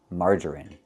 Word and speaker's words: margarine: It's pronounced with the short i sound in in this is in margarine.